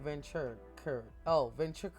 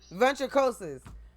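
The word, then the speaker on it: Ventricosus: I am Ventricuous. Damn. No. How you pronounce that shit, man?" Ventricosis.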